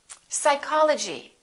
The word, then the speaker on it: psychology: receipt say receipt can i have my receipt psychology psychic one more cupboard don't say cup bird